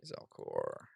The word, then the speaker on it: Zalcor: Let's see, Zalcore, actually, with the accent on the E.